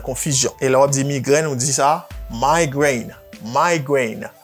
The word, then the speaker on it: migraine: Ça veut dire chaque lors rivé là, vous passez un petit quoi en bas E parce que E a pas prononcé. Vous dites migraine.